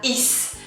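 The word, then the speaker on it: aïe: going to be different you're going to read that like this i i just like when you say i in english but this one means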